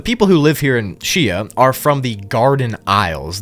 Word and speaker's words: Xia: Chia is next, and it's spelled Xia, but I think it's pronounced Chia, so just bear with me.